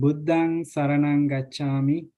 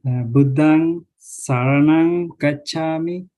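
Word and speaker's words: Buddhaṃ Saraṇaṃ Gacchāmi: pronounced as a nasal sound similar to ma in man. But normally, if you see we see as I mentioned, Buddhang Saranang Gacchami.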